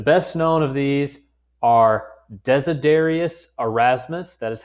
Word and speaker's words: Desiderius Erasmus: The best known of these are Desiderius Erasmus.